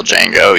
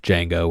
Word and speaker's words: Django: He is that other guy and then obviously has that exchange with Django where we learn that the D is silent.